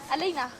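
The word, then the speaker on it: Aleyna: Aleina.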